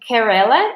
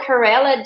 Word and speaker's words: Kerala: like it's she's the Minister of Health in Kerala is that right is that how we pronounce it yes her name is Shai Elijah